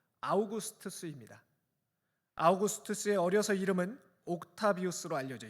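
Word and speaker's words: Augustus: 오늘 말씀에서 매우 중요합니다 아구스토라고 번역한이 이름은 라틴어 식 발음으로 아우구스투스입니다 아우구스투스의 어려서 이름은 옥타비우스로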